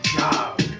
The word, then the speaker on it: Gob: Like, nigga, your name is Job, pronounced Job, and it's spelled Gob.